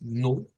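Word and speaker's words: null: sonido de u corta con u u no es la u así larga es la u corta es nul nul nul y aquí sí eh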